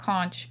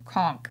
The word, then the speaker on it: conch: we done with conch so not coach conk like cog someone on the head like i'm gonna do